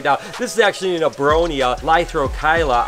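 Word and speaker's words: Abronia lythrochila: This is actually an Abronia lithrochyla, I believe that's how it's pronounced, but it always hides and no one ever sees it and no one ever wants to take it out.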